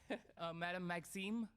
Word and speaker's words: Madame Maxime: pronouncing that well. It's my Cajun roots. Madame Maxime.